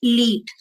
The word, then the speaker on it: SLIET: ठीक है, उसके बाद आती है लीट. लीट का स्पेलिंग होता है SLIET. उसको लीट कैंपस बोलते हैं.